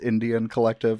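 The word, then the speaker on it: NDN Collective: As it's spelled NDN, but it's pronounced Indian Collective, and I spent like the first hour before we started recording trying to figure out what NDN stood for.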